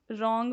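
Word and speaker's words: wrong: रॉन्ग में W silent है।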